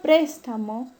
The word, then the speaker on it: préstamo: El término préstamo, la mayor fuerza de voz recae en la antepenúltima sílaba.